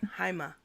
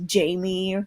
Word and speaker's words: Jaime: Is it pronounced Jaime or Jaime? What? Haima. Haima. it, Ma. it's Ma. it's pronounced Jaime, but are you referencing the early part of